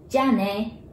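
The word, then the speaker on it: じゃあね: and family, that is jane, the one that you just heard. Jane, the ja sounds like the jar, right? Container jar.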